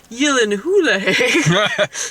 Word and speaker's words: Gyllenhaal: pronounced his last name and he responded it's pronounced Yen hulle I like Jake gyllen and that made me